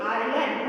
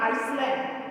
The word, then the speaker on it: island: Okay, island, see here. I-S, S is written, but we are not pronouncing this S. We are saying island, not Iceland.